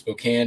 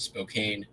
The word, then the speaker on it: Spokane: Street Bridge pennant postcard Spokane Washington is actually pronounced Spokane don't pronounce it Spokane 9.95 I think I sold some hip cards